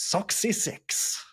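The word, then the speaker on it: soxisix: The best one is six though, which is soy six.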